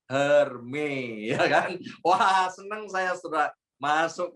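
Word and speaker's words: Hermès: diajarin sama teman saya bacanya bukan Hermes Pak hanya hermei al-khalifah seneng saya surat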